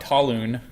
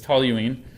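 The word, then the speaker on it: toluene: system so this it's talline yeah it's not Tallon I know if you look at it it looks like it should be pronounced Tallon but it's toine um and this has an oxidation state of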